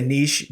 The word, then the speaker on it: niche: Everybody always says, I say niche, but like it doesn't rhyme with riches.